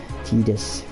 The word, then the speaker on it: Tidus: Tidus, the official game, how you pronounce it.